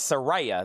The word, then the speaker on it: Saraya: Priest is at 30, like the name Ray, Saraya. Chad, say it like this, Saraya.